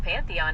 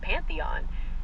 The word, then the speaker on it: Pantheon: You're definitely thinking of the Pantheon in Rome.